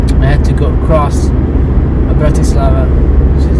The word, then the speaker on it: Bratislava: I had to go across Bratislava, which is like the capital, Bratislava, it's pronounced, which was kind of, I couldn't record